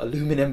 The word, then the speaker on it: aluminum: materials you've got an aluminium unibody design or aluminum unibody design depending on where you're from and how you want to pronounce it and it definitely has